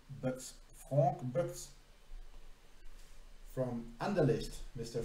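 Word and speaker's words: Boeckx: Mr. Frank Boecks, I would say. B-O-E-C-K-X. Boecks.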